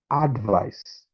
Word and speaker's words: advice: Now, in the first one, the stress is placed on the first syllable, and the second one, the stress is placed on the second syllable in case if you're pronouncing it.